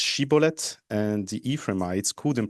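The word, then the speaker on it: שיבולת: asked them to pronounce Sheibbolet, and the Ephraites couldn't pronounce that and pronounced instead Cibolet because they could not pronounce the correct shin in Hebrew and Sheiblet.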